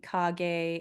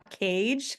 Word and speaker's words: Kage: and everybody know that his name is pronounced Kage, not Cage. Okay. So I think I'm going to print that in the book so people are like reading it as Cage, but it's Kage.